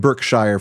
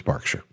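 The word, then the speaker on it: Berkshire: I pronounced that correctly it looks like birkshire folks but I'm pretty sure it's barkshire that's what I hear from our English friends now apparently John had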